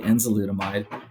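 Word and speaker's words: Enzalutamide: No, you pronounced it correctly. Enzolutamide.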